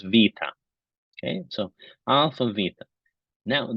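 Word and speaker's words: βήτα: now that length is a Greek letter which I looked up the pronunciation and it is Vita okay so Alpha Beta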